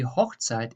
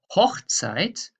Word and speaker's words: Hochzeit: I just mark you this hoch to show you what needs to be pronounced stronger to make the difference. So Hochzeit means marriage and Hochzeit means the golden age, the high time.